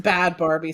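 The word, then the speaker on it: Bhad Bhabie: think it's just bad Barbie spelled weird. Bad Bad. Bad. Bad Barbie. Barbie. I think the H is silent.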